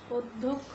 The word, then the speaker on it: অধ্যক্ষ: যেমন আমরা আগের শব্দে বলেছিলাম অধ্যক্ষ, অধ্যক্ষ লিখতে গিয়ে আমরা ধয়ের সঙ্গে জফলা রয়েছে, আমরা কিন্তু সেই জফলাটি উচ্চারণ, ধটিকে দুইবার উচ্চারণ করতে পারিনি, তার সঙ্গে আমাদের মানে দ উচ্চারণ করতে হয়েছে, তারপরে ধ উচ্চারণ করতে হয়েছে।